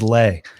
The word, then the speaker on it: Le: So I absolutely love when I get a guy like John Lee on. I'm not gonna mess that up too badly. Oh damn, it's Lay.